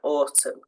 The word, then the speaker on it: autumn: N at the end silent n Autumn condemn silent P to start